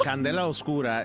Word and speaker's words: Candela Obscura: Candela Obscura is exactly the way that you pronounce that, and it's dark candle.